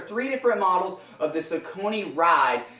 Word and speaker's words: Saucony: different models of the ciccone ride so people pronounce it Saucony today I'm going to pronounce it Ciccone so right here I